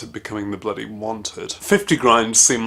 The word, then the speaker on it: 50.Grind: They actually pronounce the point, it's like they've just been told their band name by text message. And we're 50.Grind!